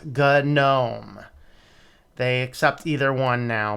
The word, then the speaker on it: GNOME: yes according to now either one is an acceptable pronunciation but it was good gnome they accept either one